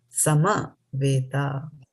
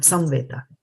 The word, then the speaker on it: samaveta: Sama Veta. It is not Samveta. Sama Veta.